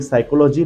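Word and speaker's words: psychology: अब देखिए, ये साइकोलॉजी लेटिन वर्ड है और लेटिन वर्ड के अंदर वहाँ पे पी का प्रोनाउंसिएशन नहीं है, इसलिए उन्होंने आगे पी लगा दिया है, दैट इज वाई वो वर्ड हो गया साइकोलॉजी।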